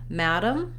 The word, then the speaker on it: madam: so first of all the word madam has first syllable stress and it has the a black cat vowel so you can think